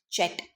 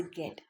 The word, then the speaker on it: get: But we don't say this as jet. We pronounce this word as a get.